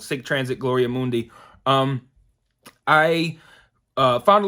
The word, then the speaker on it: Sic Transit Gloria Mundi: pronounce it and it's it's pronounced just the way it's spelled sick transit gloria mundy um i uh found